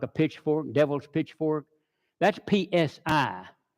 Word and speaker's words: psi: That's PSI, pronounced psi. P is being silent.